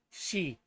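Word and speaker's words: sidhe: Uh, and Mattel says s i d h e is just pronounced she or she.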